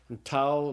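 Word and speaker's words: tau: The next letter is t toao looks just like the English t and it's pronounced like the English t. So the toao is pronounced like the t in the word talk.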